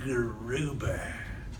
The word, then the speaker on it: Gruber: One of the principal architects of Obamacare, Jonathan Gruber, rhymes with goober, said we had to lie to get Obamacare passed because of the stupidity of the American voter.